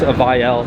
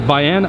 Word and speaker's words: Vayanne: And Vayanne, I believe, is actually the original like pronunciation for Vienna, so it's a very like classy vehicle as well.